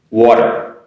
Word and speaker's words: water: today is water w-a-t-e-r it's also good for pronunciation practice because you have that r at the end you gotta make sure you make that water r at the end okay be careful on that water two times water one